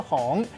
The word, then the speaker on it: 磺: 今仔日小解这一日读作风，提供予观众朋友来参考。